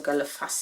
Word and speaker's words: Galle Face: Then we went to the promenade, which is called Galle Face, or Galle Face actually, you pronounce it.